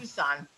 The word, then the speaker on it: Tucson: Just for But it your tasted information, it's terrible, pronounced though. Tucson.